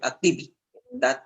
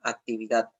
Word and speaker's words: actividad: guda guda profesor actividad Tú no dices activad no actividad ahora dice física lleva